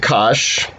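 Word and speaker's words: cosh: that magenta one there you just pronounce it kash so sinchen kash and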